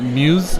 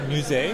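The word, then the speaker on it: Musée: Is it Muse Gallery? I think it's called Musee. Musee Gallery? Okay, perfect.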